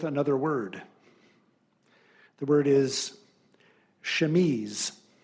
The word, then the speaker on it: chemise: The word is chemise. Chemise, got it.